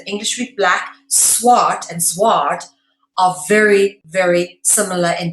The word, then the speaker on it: zwaard: In English, a sword is obviously spelled S-W-O-R-D, but in Dutch, it's spelled Z-W-A-A-R-D, okay? And it said zwaard, okay?